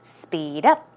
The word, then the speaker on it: speed up: Pronunciation is speed up. Stress goes right there, speed up.